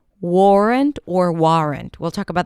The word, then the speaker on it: warrant: And we start with a W sound. Then it's the or as in for. And then rent. Rent. There is a schwa sound there. Warrant. After the w, you can also open your mouth more for an a sound.